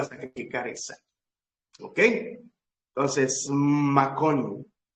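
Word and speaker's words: מקום: y cómo se lee se dice macón m a K o m macón macón o el macón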